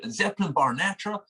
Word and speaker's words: Zeppelinbarnatra: It's pronounced Zepp, so Zeppelin, obviously Led Zeppelin. So Zeppelinbarnatra is how you say it. Shut up! It's madness. Honestly, everyone does the same things. Like, particularly over here, Zeppelinbarnatra.